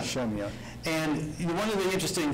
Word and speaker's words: Shemya: And like you said, you went to Alaska, and how do we pronounce that location? What was it? Shemya. Shemya. Shemya.